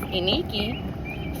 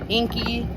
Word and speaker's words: Iniki: And I'm like, well, my name is Iniki. Five letters, three of which are consecutive. And people still get it messed up. Inky, Inika, Nikki.